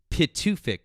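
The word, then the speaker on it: Pituffik: Well, no, it's and, Bitterfink. well, no, Try it. and this is Pitufik.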